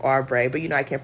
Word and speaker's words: Oubre: and Kelly Osborne and it's not Osborne it's like arbre but you know I